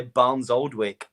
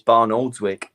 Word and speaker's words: Barnoldswick: He always says, Potsy, if you're listening, you always say Barnes Oldwick, and it's Barnoldswick.